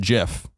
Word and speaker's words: GIF: it in the very beginning all called it GIF. And the creators go on and said, it is pronounced GIF.